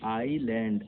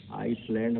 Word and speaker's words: island: ISLAND, आईलैंड, आईलैंड कहते हैं लेकिन उसको S वहाँ पे साइलेंट है। आइसलैंड हम लोग पढ़ते हैं लेकिन वो असली में उच्चारण क्या है, आईलैंड है, ठीक है।